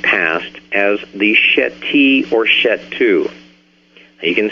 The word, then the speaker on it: Shetu: in the ancient past as the Sheti or Shetu. You can spell that S-H-E-T-I-S-H-E-T-U, the Shetu.